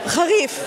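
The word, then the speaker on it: חריף: Harif. ¿Harif? Harif. Harif, como jarra. Jarra. Yeah, harif. Harif. Harif. Yeah, con F on the end.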